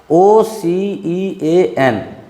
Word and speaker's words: ocean: If C is followed by EA, or IA, it gives the sound of talabsha, that is SH in English. Talabsha, that is SH in English. Just see, OCEAN, it will give the sound of ocean. Ocean, C is followed by E over here. In the same way, MAGICIAN, it will give the sound of magician. Here C is followed by IA.